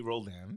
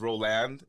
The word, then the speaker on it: Roldan: want me to say your name oh Rodney Rolan because I said it wrong the last time